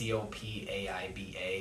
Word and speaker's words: Copaiba: I don't really know how to pronounce that. It's Copaiba, so I'm just going with Copaiba.